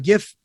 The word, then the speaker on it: GIF: It's almost like if you put a GIF and Bitcoin and kind of put them together, you get kind of NFTs. It is supposed to be pronounced GIF, by the way.